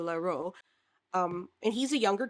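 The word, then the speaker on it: Leroux: I think that's how you say it. Laru or Laro.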